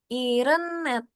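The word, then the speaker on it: 일흔넷: Irenet ya.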